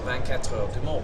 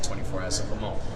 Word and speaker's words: 24 Heures du Mans: driver to race at the 24 Heures du Mans, which is the correct pronunciation, whereas everyone just goes the 24 Hours of Le Mans, which to me, if